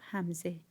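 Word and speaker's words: همزه: pronunciation could be different in persian the pronunciation of hamze and ain are the same both of them glutathione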